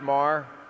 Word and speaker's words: Maher: doing thank you uh it's pronounced Mar but I'm still really